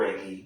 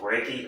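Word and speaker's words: Righi: I thought it was her Reggie, but like apparently it's just Ruth Reggie, R-I-G-I.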